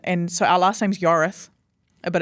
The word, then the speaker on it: Yorwarth: Why is a Welsh name any different? Yeah. So I've been really tough on, no, it's Yorwarth. I don't care that it looks like Yorwarth, it's Yorwarth.